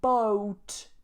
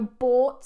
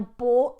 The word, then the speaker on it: bought: be really careful because a lot of people get a little bit distracted by the spelling and they pronounce it like boat boat but this is